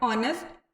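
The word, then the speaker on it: honest: that the words are ऑनेस्ट air begin with a wall sound wall sound से begin हो रहे हैं you know as the initial consonant H इज not pronounced जो initial में यह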